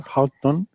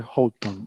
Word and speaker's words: Houghton: Y Yo este apellido lo he visto pronunciado de varias formas, ¿eh? Y de hecho, al anunciar el premio, vi que la persona que lo anunciaba decía Houghton, Ujú.